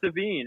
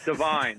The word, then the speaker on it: Devine: and so your mistake earlier i said his name wrong i never met him before and i was like josh devine how are you great to meet you thanks